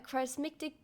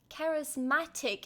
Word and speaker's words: charismatic: tight-knit Christian Community of Haven Point Nevada a charistic charismatic charismatic is how you say it Pastor has inspired